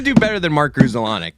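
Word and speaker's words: Grudzielanek: Weird side note: Vince Scully used to pronounce it Grassalonic, like Grass. Very weird. He used to say Grassalonic.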